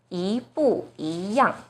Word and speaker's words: 一不一样: So the first E itself should be the second tone, 一不一样. So problem solved. This phrase is pronounced as 一不一样.